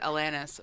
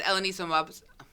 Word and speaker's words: Alanis: I know that she does not pronounce it Alanis, but I'm going to recommend Alanis Morissette's Jagged Little Pill is on Broadway. And I went to go see it. She doesn't say Alanis? How does she say her name? Alanis. No, Alanis Morissette says it Alanis, but Alanis Umbamsuan says it like that, not Alanis.